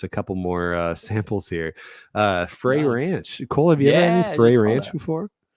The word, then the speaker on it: Frey: And apparently it is Frey Ranch. I always thought it was Fry Ranch Oh. because I know a guy named Matt Fry who is spelled that way. Okay, gotcha. But it is apparently Frey Ranch.